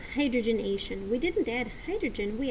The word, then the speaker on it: hydrogenation: It's pronounced hydrogenation.